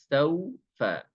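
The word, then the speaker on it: سَوْفَ: itu ada wau sukun ada wau sukun maka pengucapan ya ee ke makhrajnya wau sehingga berbunyi u saufa jangan sampai saufa saufa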